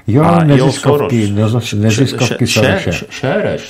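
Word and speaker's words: Soros: Šéreš se to snad vyslovuje. Séreš. Séreš nebo Šéreš, já nevím. Séreš. Séreš, no. Prostě přehlasovaný o maďarštině Séreš.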